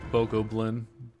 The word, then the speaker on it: Bokoblin: So Bokoblin.